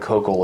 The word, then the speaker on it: Koukl: good book uh by greg cockle is his name koukl is how that's spelled called tactics where he